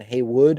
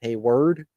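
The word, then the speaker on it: Heyward: earlier in the game he said Jason Heywood instead of hey word um yeah not great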